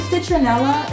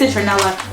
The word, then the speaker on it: citronella: Smells very strongly of, is it citronella? Is that how you say it? I know in New York we have a supermarket called Citarella. That's not how you say it, right? Those are two different things.